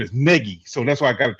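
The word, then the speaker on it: Nagy: to see I always want to call him naggie yeah so I I remember his name is Negi so that's why I got to try to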